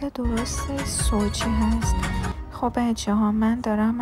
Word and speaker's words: Sochi: بعداً متوجه شدم که تلفظ درست سوچی هست.